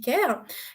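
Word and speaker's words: Qare: locaux on a Ker alors bon ça s'écrit car mais ça se dit care qui est également une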